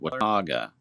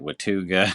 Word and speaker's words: Watauga: There was one in there's a little community called Watauga that's and a lot of times people mispronounce it Watuga or something like that, but I believe it